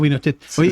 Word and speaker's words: Pinochet: Suena como Pinochet.